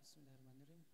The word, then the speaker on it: Bismillahirrahmanirrahim: Ro makhrajnya hanya ujung lidah menyentuh langit-langit atas bagian depan. Nah jadi hanya lidah yang digerakkan bukan bibir. Bismillahirrahmanirrahim. Bibirnya tidak bergerak.